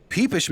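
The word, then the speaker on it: PPSh: 762 by 25 peepish m. Okay, I I apologize game. I apologize. I know most people pronounce it papa, but must confess a certain fondness for the term peepish.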